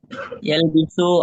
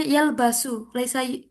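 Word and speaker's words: يلبس: Yalbisu azizu al-qalan suwata al-jadidata dakhilul dakhilal qa'ati. Oke, Kak Azizu nanti dibaca un ya, karena dia itu munsorif Oke. ya. Ya, Bu. Nah, Nanti dibacanya yalbasu.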